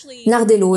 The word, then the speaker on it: Nardello: C'est Dan Nardello et non pas Bardello.